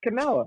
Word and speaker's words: Kamala: How do you pronounce it? It's Kamala.